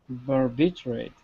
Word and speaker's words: barbiturate: Barbiturate. Yeah, you want to say like barbitch, almost. A bitch. But it's, you're not calling it a bitch.